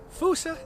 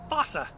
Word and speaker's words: fossa: It is pronounced Fossa in Madagascar and Fossa here in North America. So, you take your pick as to which you prefer.